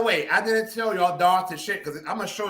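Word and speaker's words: Dhar Tichitt: And by the way, I didn't tell y'all Dar to shit because I'm going to show y'all because it's unknown. And yes, that's how it's pronounced, y'all.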